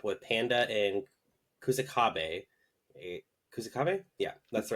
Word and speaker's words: Kusakabe: episode back up with panda and kusak AB kusakabe yeah that's the right pronunciation I'm going with that talking about yuji's